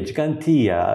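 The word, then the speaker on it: Ġgantija: giant in the maltese we have got two g's one soft g and one heart cg and cigantia has got the twos the first two g's so gigantia it's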